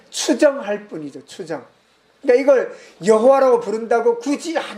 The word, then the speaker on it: 여호와: 그래서 특별히 우리말 성경에는 그걸 이제 복원, 추정해서 여호와 하나님 이렇게 읽습니다. 근데 원래 여호와라고 하는 건 약간 영어식에서 번역된 편이거든요.